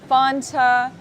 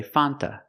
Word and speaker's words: Fanta: American would ever say Fanta it's pronounced Fanta Fanta or F sometimes you don't hear the T because you have n between vowels so you'll hear Fanta